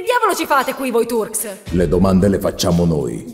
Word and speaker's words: Turks: Salve, signor capo dei Turks! La pronuncia corretta è Turks, se non erro. E comunque la R non va pronunciata.